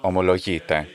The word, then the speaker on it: ομολογείτε: Omologite. Just the modern Greek pronunciation, and that's the word.